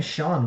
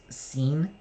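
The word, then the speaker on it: Sean: that speaking the name Shawn why is it why is it spelled SE EAN isn't that should that be pronounced scene rhymes it's mean what mean you know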